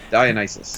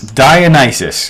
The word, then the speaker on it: Dionysus: Dionysus. Dionysus. Thank you for pronouncing that.